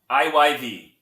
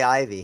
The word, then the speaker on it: IYV: IYV. You have to say the Y. You can't just say Ivy, huh?